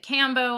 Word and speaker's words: Kambo: I've always pronounced it combo. I know a lot of people pronounce it Kambo. I've heard both. Some is just the accent, whatever.